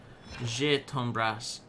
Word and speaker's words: je t'embrasse: Je t'embrasse. E at the end is silent.